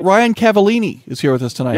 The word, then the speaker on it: Cavalline: Ryan Cavallini is here with us tonight, ladies and gentlemen. Yeah, Cavallini.